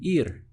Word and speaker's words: ir: And to go in Spanish, the verb is simply ir, spelt I-R, and sounding like the English word for ear, right? But obviously the spelling is completely different.